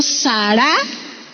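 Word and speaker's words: שָׂרָה: hará será su nombre esta palabra sale del hebreo sara con acento en la última sala qué significa mamá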